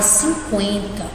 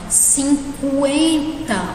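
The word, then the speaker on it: cinquenta: Como, por exemplo, aqui na palavra 50, se vocês notarem, eu pronunciei o U, tá? Falando rápido, às vezes a gente não percebe, mas vamos falar devagar. 50, olha aqui, 50, eu não falo 50, né? Eu não anulo o U, né?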